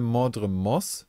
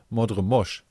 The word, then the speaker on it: Mordremoth: Der sagt halt nicht mal Mordremos, sondern Mordremosch.